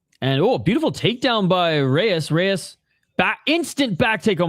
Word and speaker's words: Reis: Let's see if Reis, that's how you pronounce it.